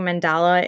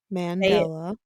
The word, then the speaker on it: Mandela: how you say it because I keep thinking mandala in my head but it's not that it's Mandela thank you see I